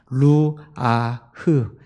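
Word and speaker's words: רוח: 여기서 생기라고 번역된이 히브리어는 히브리어로 르아라고 하는 단어예요. 루아흐. 예. 발음이 제가 좀 어려운데 루아흐라고 하는 말 단어인데이 단어는 바람, 호흡, 영 이런 단어로 쓰인 것입니다.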